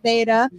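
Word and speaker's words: Theyduh: my name um is i go by beta just t-h-e-y-d-u-h it rhymes with my name i get it um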